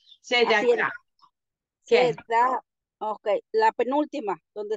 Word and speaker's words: צדקה: A veces se pronuncia y a veces no, como acá en donde leí, se da, ta. Ahí está una E y no la pronuncié. Se da acá. Ahí la pronuncias.